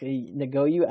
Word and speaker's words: Ngakoue: But it's very clear that, and then Yannick Ngakoue, I forget how you say his name.